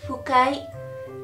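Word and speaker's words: ふかい: Ang pagbigkas niya po ay hindi po siya fukai. H. H po.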